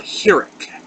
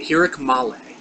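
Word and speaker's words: חיריק: Next, we got a long I sound, and this is called a hirik. A hirik male.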